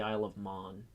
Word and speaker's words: Isle of Man: Um, But no, she actually Um, lives on the Isle of Man, which they actually pronounce as the Isle of Mon.